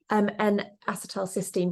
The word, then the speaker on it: N-acetylcysteine: N-acetylcysteine, but we just call it NAC on the website.